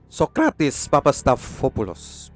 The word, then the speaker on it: Papastathopoulos: Milan dan Dortmund ini pengucapan yang benar adalah sokratis papastathopoulos bagian akhir namanya nyaris tidak terdengar sokratis